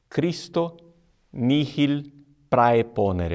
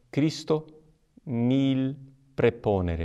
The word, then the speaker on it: Christo nihil praeponere: aquela de Cícero é christo nihil praeponere é mas não é essa massa polícia a pronúncia correta Romana é christo nihil praeponere a e vejam que